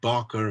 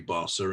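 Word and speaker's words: Barça: mispronounce barsa and barker i said barker and well of course that's wrong and it should be basa and well noticed and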